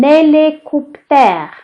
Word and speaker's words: hélicoptère: Un hélicoptère.